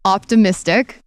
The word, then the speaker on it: Optimistic: So spelled like mystic. And we've got Positive Head, and then Optimistic is the evolution. He's quite the wordsmith. Wait, my brain sometimes is slow. How does Positive Head and Optimistic? Positive Head's the audio podcast, and then Optimistic is the TV show. Optimistic, like a positive. Okay. Right. So it's like he's optimistic, yes. but spelled like OPTI mystic.